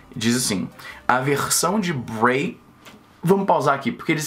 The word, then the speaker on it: Bre: Eles conseguiram, e tudo bem, a pronúncia desse Bray é assim, é Bray. Se fosse B-R-E-E, dois E's, seria Bree. Mas da forma que tá aí, é Bray.